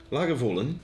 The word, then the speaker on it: Lagavulin: ones that there are a couple of common pronunciations yeah I mean let's let's face it like an oilman Lagavulin yeah is how you should say it but